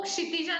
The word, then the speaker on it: क्षितिजा: तो बोलते वक्त भी समझ में आता है इट्स अ मिक्सचर ऑफ क और श. क्ष.